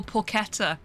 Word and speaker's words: porchetta: Hard C. I don't know how to do a hard C.